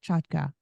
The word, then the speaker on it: Chotka: go by that sure you pronounced my name correctly so kudos to you it's a Ukrainian name now everybody in America